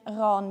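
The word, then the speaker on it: Rån: with another H spelling we have an A with a DOT over so you pronounce it Ron or as we say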